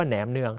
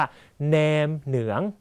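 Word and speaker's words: nem nướng: ครับ เรียน ภาษา เวียดนาม ห้าม พูด ว่า แหนม เนือง ต้อง ออก เสียง ว่า แนน หนือง นะ ครับ มือ สอง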